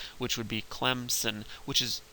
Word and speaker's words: Clemson: If you say it like a good Southerner and you say Clemson, you put a P in there, and there's no P in the word if you look at it. Sometimes people from up north will pronounce it Clemson with a Z, and there's also no Z in there.